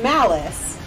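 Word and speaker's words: Malis: Game Master Ant said Malice, M-A-L-I-S, pronounced Malice.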